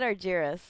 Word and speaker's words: Argiris: you pronounce it again i said argires that's perfect awesome i know it's not often that you get people that can pronounce it right we had a lengthy